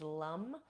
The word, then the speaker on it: Lam: So the seed sound for the root chakra is Lam. It's spelled Lam, but in Sanskrit we pronounce the A.